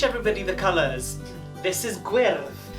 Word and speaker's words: gwyrdd: This is Gwyrdd. Gwyrdd.